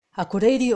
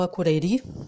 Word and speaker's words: Akureyri: Akureyri ou Akureyri, eu escutava as duas pronúncias quando eu fui lá.